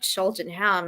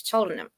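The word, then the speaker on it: Cheltenham: yeah Birmingham or not it's not sheltonham it's chham Birmingham okay so I have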